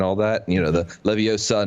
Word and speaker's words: Leviosa: So Wingardium Leviosa was the first one where they really talked about pronunciation and all that. You know, the Leviosa, not Leviosa, whatever.